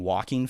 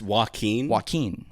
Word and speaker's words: Joaquin: his name, Joaquin Phoenix, I force myself to say Joaquin because I guess it would sound like I'm saying walking Phoenix, like he's a walking Phoenix.